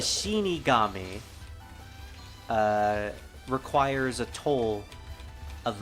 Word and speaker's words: shinigami: shini Kami damn it I keep trying to say Shiki that's not right the shinig gami uh requires a toll